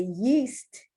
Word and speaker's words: yeast: If you want to say yeast, Y-E-A-S-T, yeast, the EA is pronounced E, or east, the EA is pronounced E, not aced or yeast.